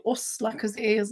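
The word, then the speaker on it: Åsle: Osla. It's actually A with a circle over it. What? SLE Osla. They wanted to know. Oslo? She says, how do you pronounce the Osla stitch? Oslo. Oslo. Not Oslo.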